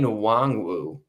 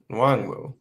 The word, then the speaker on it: Nwangwu: Is Kene Nwangwu, who's going to be my kick returner. How do you spell that? Just sound it out, dude. Nwangwu.